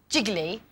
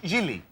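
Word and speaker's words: Gigli: Well, in her latest film, Jiggly... It's pronounced Gilly. Is that how it's pronounced? Yeah. I don't know why the extra G's in there. We don't say it, apparently.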